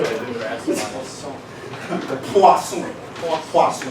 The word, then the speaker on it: Poisson: Poisson. Okay. You have to say it like that.